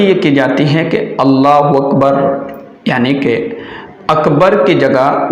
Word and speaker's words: اللہ اکبر: ہیں جب ہم نماز شروع کرتے ہیں تو اللہ اکبر جب ہم کہہ کر کے اور اپنی نماز شروع کرتے ہیں اسے کہتے ہیں تکبیر تحریمہ۔ اب سب سے پہلی غلطی یہ کی جاتی ہے کہ اللہ اکبر یعنی کہ اکبر کی جگہ وکبر واو پڑھ